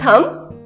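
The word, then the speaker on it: thumb: इज इट थम? नो, the correct pronunciation is थम. बी is silent here.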